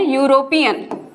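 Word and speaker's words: European: अगर मैं आपको यहां हिंदी में लिख के दिखाऊं तो हम इसे इस तरह से प्रोनाउंस करते हैं यूरोपियन। तो ये जो पहला साउंड है क्या ये वोवेल का साउंड है या कंसोनेंट का साउंड है?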